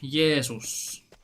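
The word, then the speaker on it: Jeesus: How do you pronounce Jesus in Finnish? Jesus. Like with a double E.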